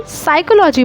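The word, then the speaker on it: psychology: साइकोलॉजी होता है ना लेकिन हमें ओनली साइकोलोजी बोलते हैं इसको सील हम साइलेंट रखते हैं इसी तरीके से एच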